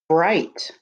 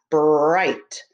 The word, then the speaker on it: bright: They are all examples of something that is bright. Stretch it. Bright. Bright. It has the word right in it with the B at the beginning. B-R-I-G-H-T. I-G-H says I, bright, B-R-I-G-H-T, bright.